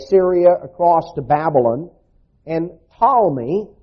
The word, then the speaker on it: Ptolemy: what is modern-day Syria across to Babylon and Ptolemy spelled p-t-o-l-m-e-y looks like patalamy but but it's normally pronounced Tommy he ruled Egypt in the south and this